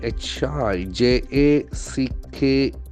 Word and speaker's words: hijack: Jack hi Jack Blackson falls on the first syllable hi hi Jack hi Jack okay I okay it's high high Jack it's a diphthong hijack hijack means you